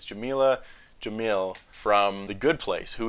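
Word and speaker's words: Jameela Jamil: is it's uh i'm gonna probably pronounce her name wrong but it's jamila jamil from the good place who is great and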